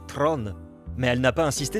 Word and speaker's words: Theron: En Afrikaans, la langue dérivée du néerlandais, son nom est censé se prononcer Tron.